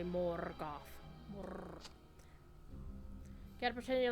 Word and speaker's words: Morgoth: And you have to roll your R's when you say Morgoth.